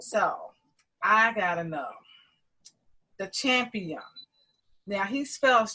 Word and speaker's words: Champiam: So I gotta know the Champiam. Now he spells Champiam Champiam. So how did you come up with that name? Well, first I like to pronounce it as Champ I Am, because it's Champ I